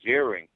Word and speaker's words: Ziering: The millions of people viewing this now, I want to thank Andrew Ziering on behalf of all the hair loss sufferers for making this possible.